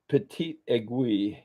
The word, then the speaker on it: petite aiguille: Um, the petite aiguille, a very small egg.